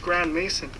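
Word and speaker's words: Grandmaison: even his last name is suspicious as it's pronounced Grand Mason add that with the fact that his family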